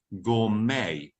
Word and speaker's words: gourmet: Now it's pronounced gourmet.